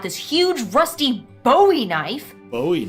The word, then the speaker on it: Bowie: Bowie. It's actually pronounced Bowie. What? No, it's like the last name, like David Bowie.